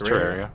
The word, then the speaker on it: Terraria: I don't know how you say it. It's Terraria. Terraria.